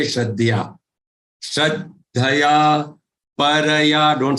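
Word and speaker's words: परया: Shraddhaya paraya taptan tapastat trividhan naraihi aphalakankshibhir yuktais satvikam parichakshate. Shraddhaya, don't say shraddhya. Shraddhaya paraya, don't say parya.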